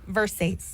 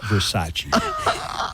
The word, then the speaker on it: Versace: in Show Girls Elizabeth Berkeley kept saying Versace Versace and everybody would laugh at her but nobody would tell her it took Kyle MCL Kyle mclocklin to eventually go it's pronounced Versace if you don't know